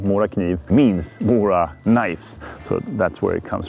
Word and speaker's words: Mora Kniv: name Mora Kniv means Mora knives, so that's where it comes from. So, Mora Kniv is how you pronounce it here in Swedish, Mora knife in English, I would say.